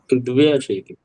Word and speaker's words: द्व्यशीतिः: एकाशीतिः द्व्यशीतिः, नहीं, द्व्य। द्वया। दा वा दोनों में आ नहीं है। ओके। आप द्व्य उच्चारण करके द्व्यशीतिः।